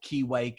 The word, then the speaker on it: Kiwake: on a Friday evening, this ridiculous alarm that I use, which is called Keywake. It's an app that you can download on your phone. It's spelled Kiwake.